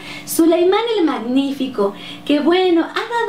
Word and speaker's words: Suleimán: libro han encontrado que en español Suleimán se lee como so verdad y eh en Turco de repente bueno encontramos que su pronunciación es diferente más sutil y sobre todo con u verdad Suleimán el magnífico que bueno